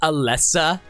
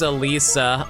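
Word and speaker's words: Elesa: So, it's be ela, but apparently you have to pronounce the e as an i for some reason, and that throws me off so hard.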